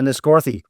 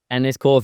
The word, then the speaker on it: Enniscorthy: How do I pronounce that track? Which one? Hackney Corner. What is it? Enniscorthy. Enniscorthy, that's the one, okay?